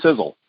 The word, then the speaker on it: Sisel: just a second but first off who is sizzle let's talk a little bit about who we